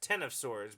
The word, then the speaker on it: X of Swords: the whole Marvel Universe call it X of swords and pronounced ten of swords but you know like